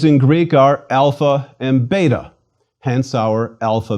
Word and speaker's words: alpha: our own letter A it is always pronounced when long like the a in father or when short more like aa it is never ever pronounced like the a and cake or the air and cat please repeat alpha ah